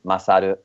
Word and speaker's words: Masaru: gonna butcher it uh masaru yes masaru um so the correct pronunciation with the japanese accent will be masadu saru um so yeah